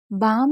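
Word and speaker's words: balm: बाम में देखिए एक चीज़ बता दें कि एल साइलेंट है। अब एल क्यों साइलेंट है? क्योंकि कुछ जगह एल को नहीं पढ़ा जाता है, तो यहाँ पर हमने इस तरीके से पढ़ा।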